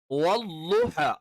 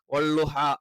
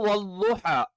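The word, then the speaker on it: وَالضُّحَى: വല്ലുഹ അല്ലാത്ത എല്ലാ ഉച്ചാരണങ്ങളും ഇനി നമ്മൾ മലയാളത്തിൽ വള്ളുഹ എന്നൊക്കെ പറഞ്ഞാലൊക്കെ തെറ്റാണ്. ഇനി നമ്മൾ സാധാരണ രീതിയിൽ ഇനി ള ള എന്ന് പറയുമ്പം നാവിന്റെ സ്റ്റാർട്ടിങ്ങും അഥവാ നാവിന്റെ തുടക്കവും മേലെ മുൻപല്ലിന്റെ തലയും സ്റ്റാർട്ടിങ്ങും അത് വല്ലുഹ അത് തെറ്റാണ്. ഇനി അള്ളാ എന്ന് ഉച്ചരിക്കുന്ന ലാമിന്റെ മഖ്റജിൽ നിന്ന് വല്ലുഹ അതും എന്താണ് തെറ്റാണ്. അപ്പൊ വാദ് കറക്റ്റ് ആയിട്ട് നമ്മൾ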